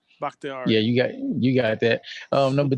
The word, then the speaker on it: Bakhtiari: Bakhtiari.